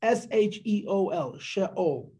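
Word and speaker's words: Sheol: You know what Rabbi Magel translates sha'ol as? He phoneticizes the Hebrew. It's S-H-E-O-L, sha'ol. Hashem, God Almighty, Elisa, you lifted me up, min sha'ol.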